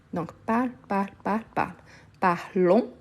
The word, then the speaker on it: parlons: parle parle parle parle parlon je ne prononce pas le S parler c'est comme le